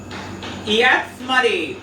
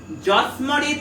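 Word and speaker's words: যঃ স্মরেৎ: ইয়াৎস্মরেৎ, ইয়াৎস্মরেৎ, যস্মরেৎ নয়। ইয়াৎস্মরেৎ কেন বললাম? জয়ের উচ্চারণটা সংস্কৃতে হবে ইয়াৎ, হর্ষই যোগ অ, ইয়াৎ।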